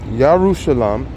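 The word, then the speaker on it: ירושלים: My name will remain in Yerushalayim.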